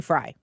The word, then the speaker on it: Frey: just pull up YouTube and type in fry f r e y That's how you spell